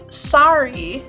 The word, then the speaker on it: sari: you might decide to purchase as well so sorry is spelled s-a-r-i and the sorry fabric is worn